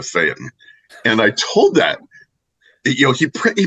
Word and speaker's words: Phaeton: And I said, it's Phaeton, isn't it? It's not pronounced the way that the Greek god is. And he goes, oh no, it's Phaeton. And I called the Peterson Automotive Museum, and they said, it is absolutely a Phaeton.